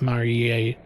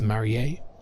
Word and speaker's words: Marie: That would not be Mari. That's Marie. And the E on the end is what makes it sound like that.